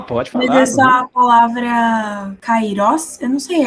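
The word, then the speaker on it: καιρός: Kairos se pronuncia o iota. Se tivesse no kairos o iota no A, no alfa, melhor dizendo, ficaria karos, está entendendo?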